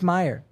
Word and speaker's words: Mayer: saying mayor Marcelo mayor I was criticized for my pronunciation for him recently so now I'm second guessing myself like the hot dog Oscar so maybe it's Meyer is it mayor or Meyer Oscar Meyer but it's Marcelo mayor though but I'm his